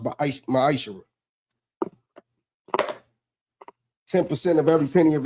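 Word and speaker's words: מעשר: Means 10th in Hebrew, and it's pronounced Ma'ishra.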